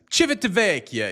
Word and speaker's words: Civitavecchia: Civitavecchia is how it's said.